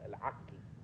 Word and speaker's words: al-Aqi: And some of them say, No, al-Aqi, Ain Kaf Ya.